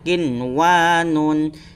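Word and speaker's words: قنوان: Kemudian contoh selanjutnya ialah kinwanun, jangan sampai dibaca kiwanun. Nah, itu keliru ya. Yang benar adalah harus jelas dan kemudian terang, kinwanun.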